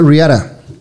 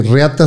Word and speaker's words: Riata: Se llama Riara. Ándele. Porque lo pronunciamos en inglés, porque Riata se ve muy feo.